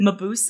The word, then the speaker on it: Mabuse: Mabuse, Yeah. is that how you pronounce it?